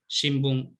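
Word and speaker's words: 新聞: su propio elemento rítmico vamos a poner un ejemplo por ejemplo tenemos symbol shimbún vale esto para cualquier hispanohablante lo dividimos en dos sílabas sin por un lado y por otro la pregunta es es así como es en japonés la pregunta es no la pregunta técnica o la respuesta es no el japonés tenemos cuatro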